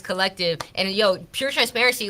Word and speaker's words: CLLCTVE: So collective, we spell it with no vowels except for the E at the end. So CLLCTVE. It's collective, and pure transparency.